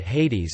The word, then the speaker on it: Ἅιδης: Hades. Later the iota became silent, then a subscript marking, Hades and finally omitted entirely.